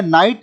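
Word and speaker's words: night: उसके बाद में नाइट, नाइट में G और H साइलेंट होता है जिसका मतलब होता है रात।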